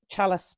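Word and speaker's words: Çalış: they have a strip which is called chalice Beach but it's spelled c-a-l-i-s yeah and there's a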